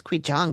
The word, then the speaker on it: Qigong: I want to say it was qigong, but that's not how it's spelled.